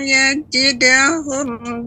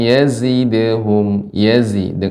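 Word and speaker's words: يزدهم: Falam yajidahum du'a. Zai, Nek. Zainya kurang diperjelas lagi Nek. Jadi zai ini tajam, sifat zai sofir, tajam ya. Falam yazidhum, bukan yaji. Bukan yajidhum. Yazidhum.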